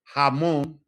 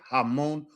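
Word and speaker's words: jamón: J's are always pronounced as English H's. Jose Javier. Hamon Julio Jose Javier Hamon Julio These are all words that you can practice.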